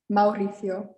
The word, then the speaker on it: Mauricio: vowels are pronounced separately it's just common to say them together and make an ow sound like ciao we had earlier ciao